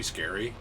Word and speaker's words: Sker: no that makes sense scare point no it's pronounced scar scar sounds like a